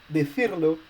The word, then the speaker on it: decirlo: You will have decirlo, and you don't need any written accent, because right now the word is ending with a vowel, so the last but one syllable is stressed, and as we have a new syllable in the word, the I is already stressed.